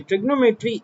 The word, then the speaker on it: trigonometry: को हम बोलते हैं ट्रिग्नोमेट्री। अब इसकी सही प्रोनाउंसिएशन है ट्रिगोनोमेट्री। ठीक है, क्या सही प्रोनाउंसिएशन है? ट्रिगोनोमेट्री। ठीक है, हम चलें ट्रिग्नोमेट्री भी पढ़ लेते हैं। ट्रिगोनोमेट्री सही वर्ड है इसका।